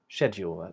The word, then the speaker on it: schedule: British version then I would say it with a sh sound and that's what we're doing today so schedule that's the one we'll be doing today and there are two different ways we can pronounce this word even considering that so check this out so we start off with a sh which is unvoiced you use a